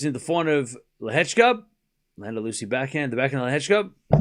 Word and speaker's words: Landaluce: Just FYI, Cam, Landaluce is pronounced with a C, sounding like a Z. Hard for English, I know, and the pronunciation of the E as in eh. So Landaluce.